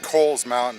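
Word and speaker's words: Cowles Mountain: cows Mountain cold mountain it spelled like cowl like a cape but it's actually called Cole's Mountain and most people mispronounce it so that's where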